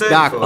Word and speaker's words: D'Aquila: It's D'Aquila. Oh, almost like Dracula.